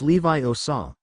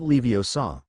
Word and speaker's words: Leviosa: We weren't even starting this charm until today and you pronounced it wrong. It's<unk> Levi Osaw, not Leo Saw.